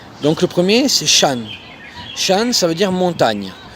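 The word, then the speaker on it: 山: Donc le premier c'est Shan. Shan ça veut dire montagne. Le signe que vous voyez en bas c'est le signe de la montagne. Et vu que c'est AN, ça se prononcera Shan.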